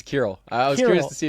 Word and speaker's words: Kirill: I How do you How do you pronounce It's It's How do you say it? It's Kurroll. I was curious to see if if you got it, but yeah, Kurill.